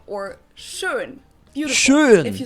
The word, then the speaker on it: schön: I'm not sure that they do it, but it's just pronounced. Or schön, beautiful.